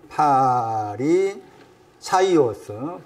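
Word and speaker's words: Φαρισαῖος: 정확한 거기 발음은 헬라오로 파리사오스죠. 읽으면은 파리 사이오스. 파리 사이오스 이렇게 되는 거예요.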